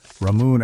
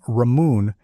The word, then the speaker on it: Ramune: The name Ramune is simply the Japanese phonetic pronunciation of the English word lemonade.